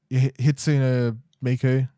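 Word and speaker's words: Hatsune Miku: is a majority of the market, or Hitsune Miku, is that how you say it?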